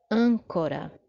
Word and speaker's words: âncora: Terceira palavra, âncora. Âncora. Nós temos aí também, não é? A antepenúltima sílaba dessa palavra é mais forte. É justamente a nossa sílaba tônica.